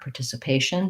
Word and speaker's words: participation: Also, looking at a word like participation, that's even more likely for that par to change more to a per, participation, because the patient, the second to last syllable, gets stressed.